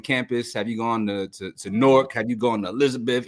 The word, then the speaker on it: Newark: Newark. Why? Newark. Newark. I can't Newark. say that. Like pork with an N.